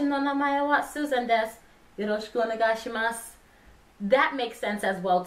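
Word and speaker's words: よろしくお願いします: Now, yoroshiku onegaishimasu. It's kind of tricky to explain what yoroshiku onegaishimasu means.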